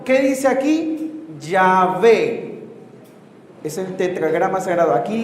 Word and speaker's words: Yahvé: Aquí es la A y la E, Yahvé. La pusieron al revés, la E y la A, y un punto que parece una O, que termina diciendo Jehová.